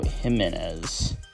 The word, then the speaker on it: Jimenez: himz that is him I think that's how you pronounce his last name Jimenez yeah that is how you pronounce my last name anyway um obviously